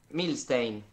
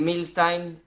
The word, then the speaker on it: Milsztajn: Milstein, pero también se puede decir Milstein, es polaco y tiene muchas consonantes, así que es confuso.